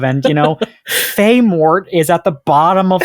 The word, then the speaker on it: Filemot: We said we got to pronounce this L. Sorry. Listen, we have a quot to fill. All right. There's only a certain number of silent L's that we're allowed to have.